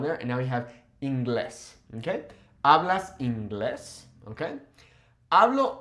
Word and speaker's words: inglés: However, it sounds a little odd, so we put a new accent on there, and now we have inglés, okay?